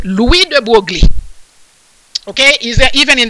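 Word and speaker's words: Louis de Broglie: all kind of pronunciation but it is french and i do speak french so it is louis de buergli okay is that even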